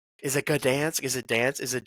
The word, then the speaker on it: Gdańsk: I'm gonna Google it real quick actually, because I think you do pronounce the G if I remember right, but I might be completely wrong about that actually. Let's see. Oh, it's Gdansk.